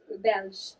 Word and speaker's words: Belge: Is that how you say it in French or Belgium? Belge.